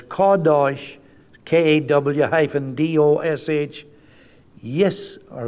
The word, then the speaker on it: Qedosh: Deutsche k-a-w though it's not spelled that way it's spelled q-e-d-o-s-h like but it's kadosh k-a-w hyphen d-o-s-h yes or like y-i-s-r-a-e-l or